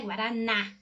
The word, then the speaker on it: Guaraná: Igual, por exemplo, em Guaraná, tem um acento agudo para mostrar que você pronuncia isso de uma maneira aberta, né? Guaraná, certo?